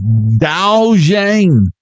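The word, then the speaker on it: 豆浆: Douang is how you say fresh soy milk. Dao Jang. Dao Jang. You say Dao Jang like we say Dao Jang.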